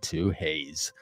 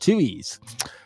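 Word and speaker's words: Twohey's: going to twoes in Pasadena no it's not two Haze it's pronounced chees like chewy anyway anyway um great place I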